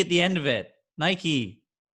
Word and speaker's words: Nike: Okay, you say Nike, okay? I was gonna let it slide, but now I'm not. Okay, he says Nike because the British say Nike for some reason, even though it's Nike.